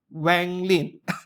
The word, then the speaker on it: Wang Lin: Now it is in Hobby Link Japan by PJ Studio, 1:6 scale, new era renegade immortal Wang Lin. It's Wang Lin, but the English speakers pronounce it as Wang.